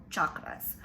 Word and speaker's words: chakra: centers in our body they're called chakras or chakras but the actual um way to pronounce them in sanskrit is chakra so you have your